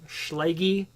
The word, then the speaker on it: Schlage: questions on the / a schlager swoggle however you pronounce it although I think it's Schlage and if you really